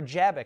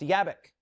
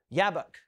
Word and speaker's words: Jabbok: And so he divides his camp into two, and then he goes across the ford of the river Jabbok, actually pronounced Yabbok, or Yabbok, Yabbok.